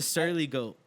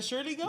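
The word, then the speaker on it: Surly Goat: the Shirley go yes by the way it's pronounced the sirly goat the Shirley the Shirley goat I've never been it's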